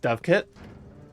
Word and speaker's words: dovecote: Dovecote is pronounced Dovekit.